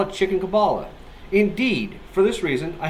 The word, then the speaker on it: Kabbalah: are not a cob list you don't even pronounce the word correctly it is Kabbalah Kabalah what you teach is not Kabbalah it